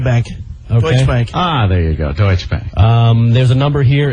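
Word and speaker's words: Deutsche Bank: another company I'm going to screw up the pronunciation deoe and TSH deuts deutche Bank deut bank ah there you go deuts Bank um there's a number here it's a local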